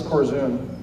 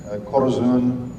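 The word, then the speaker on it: Korzun: Um, can you pronounce those names? Yeah. Yeah, this is Corzun. K O R Zu N Corzun.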